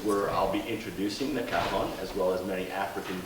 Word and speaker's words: cajon: But the cajon, it's spelled C-A-J-O-N, not to be confused by C-O-J-O-N.